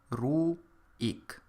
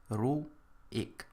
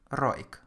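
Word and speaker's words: רויִק: have the word ruin you can hear that I pronounce it ruh eek Roo eek and the killing field is in this word to indicate this pronunciation because otherwise you could read is read it as Roy because there is a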